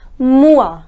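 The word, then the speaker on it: moi: in French all right so whenever oh I comes together the sound is wah separately the sound of oh is oh and the sound of I is II but together the pronounce it as or alright so let's suppose if the word is M o I then the pronunciation becomes more which means me alright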